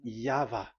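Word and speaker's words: YHVH: Pronunciation is equal V. It is V. Y H V H. So it is YAHVAH.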